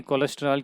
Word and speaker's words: कोलेस्टीरॉल: स्टीरॉल्स, okay, कोलेस्टीरॉल, कोलेस्ट्रॉल हम लोग जो है हम कॉमन लैंग्वेज में कोलेस्ट्रॉल करके बात करते हैं, बट इट is basically स्टीरॉल। Chemical अगर सही उच्चारण करें तो इसको हम स्टीरॉल्स कहते हैं, तो कोलेस्टीरॉल, ओके।